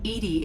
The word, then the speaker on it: EDI: Edie? EDI is the phonetic pronunciation of EDI. That is an acronym for Enhanced Defense Intelligence.